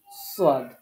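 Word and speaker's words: ص: জিহবার আগা নিচের দাতের আগা হরফ উচ্চারিত হবে তিনটি যা সিন সদ এটা মনে রাখতে হবে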